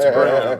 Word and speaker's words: Braun: Well, it's is a heck of a Braun, Braun, but but it's it's pronounced Braun.